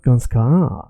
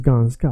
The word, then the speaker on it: ganska: It's not ganska, it's ganska. Veka, veka.